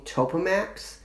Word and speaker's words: Topamax: I grew up taking Topamax and Lamictal. That's what it's called and pronounced.